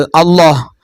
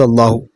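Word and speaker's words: الله: അടുത്ത, ലാമിന്റെ മുമ്പുള്ള അക്ഷരത്തിൽ ഫതഹോ ലമ്മോ ആണെങ്കിൽ ലാമിനെ വായ നിറച്ച് ശബ്ദത്തിൽ ഉച്ചരിക്കണം.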